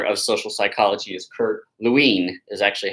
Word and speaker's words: Lewin: but the father of social psychology is Kurt Lewin is actually how you say his name most people say Lewin which is fine I don't know if he would like that but it's Lewin and he is considered the father of Social